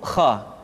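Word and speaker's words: خ: hanha selanjutnya adalah huruf Kha Kha dikeluarkan dari pangkal tenggorokan Kha pangkal tenggorokan diucapkan dengan mengalir nafas atau lebih praktisnya pengucapan huruf k persis terdengar seperti orang yang tidur dalam keadaan mengorok Kha khi khu bakh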